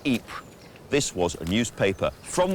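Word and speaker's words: Ypres: called the wipers times wipers being how british troops mispronounced eep this was a newspaper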